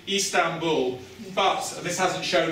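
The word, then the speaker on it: İstanbul: So Istanbul, you'll sometimes see a long I with a dot on the top. It's kind of an E sound. Crossing between an I and an E, Istanbul.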